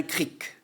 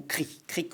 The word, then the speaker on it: cric: la partie supérieure d'un cric. Vous savez on peut prononcer en français le mot cric ou cri.